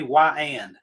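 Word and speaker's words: Weiand: You guys remember when the wind used to have cast on it, some of those parts, say Y-and, say W-H-Y-A-N-D to teach people how to pronounce it, cast right on the parts.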